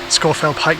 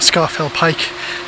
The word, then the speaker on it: Scafell Pike: these uh hills these fells scorefell not scarfell scorefield pike not scarfall pike that's how it should be pronounced i know it's spelt scarfell but it's